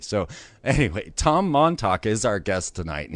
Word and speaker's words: Montalk: we talk with Tom Montalk. And that is spelled Montalk, like talk, like you're talking, just so you don't get that confused with the Tauk. So anyway, Tom Montalk is our guest tonight,